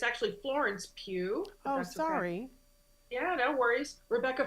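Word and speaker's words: Pugh: think or vill I sorry I'm terrible about pronunciations um Timothy shalam zanda Austin Butler and it's actually Florence Pew sorry yeah no worries Rebecca Ferguson Javier bardam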